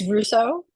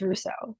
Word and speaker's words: Russo: different, but yeah, it's Russo. Just like Renee Russo from back in the day.